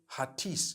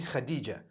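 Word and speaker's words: Hatice: I would say Hatis for that. No, it's actually Khadija.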